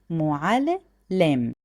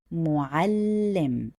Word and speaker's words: معلم: If I want to read it this way, معلم. The correct way to say it is معلم, emphasizing on the letter lam again.